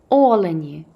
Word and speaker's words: олені: побачити справжнього північного оленя наголос на о олені хочу зробити батькам сюрприз